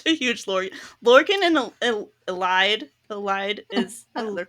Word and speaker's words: Elide: Lorcan and Elide is the correct pronunciation of her name.